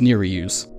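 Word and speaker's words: Nerijus: just head to where Neri use invade you use Yura as a decoy and the dude practically beats himself and yes it's pronounced near reuse I found out it's a Lithuanian name in English it translates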